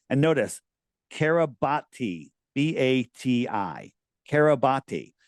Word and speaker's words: Kiribati: wide, and it's registered to the country of Kiribati. Have you ever heard of Kiribati? It's pronounced Kiribat, but it's spelled Kiribati.